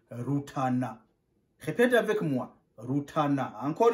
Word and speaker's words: Rutana: On prononce Rutana. Ce n'est pas Rutana, impossible. C'est Rutana. Répète avec moi. Rutana. Encore une fois. Rutana. Rutana. La province de Rutana est au sud-est du Burundi. Tu arrives à Rutana.